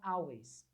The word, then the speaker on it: always: geralmente o pessoal fala always. Você falava always, né? Então vamos corrigir isso. Não vai dizer always. Diga comigo. Always. Always. A com L sempre tem som de O.